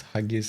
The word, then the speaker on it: haggis: You guys have been saying it wrong. It's haggis.